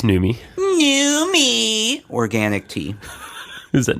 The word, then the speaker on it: Numi: you're drinking my greens uh your numi it's newy new organic tea is that Newman's girlfriend that's